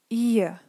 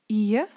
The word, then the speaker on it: ihr: So after a long vowel, it's a consonant when it's at the end. So let's read together. Vier, ihr, der, Ohr. And here try to listen what I'm saying and not to read. It's a small a sound. So once again, vier, ihr, der, Ohr. So here please have faith and really pronounce it this way, although you read an R, it's really important that you don't pronounce it.